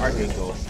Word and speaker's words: archangel: There are different ways to pronounce it. I think it's archangel. Archangel. Yeah, you don't pronounce the H.